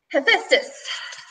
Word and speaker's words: Hephaestus: Hephaestus. Am I pronouncing that right?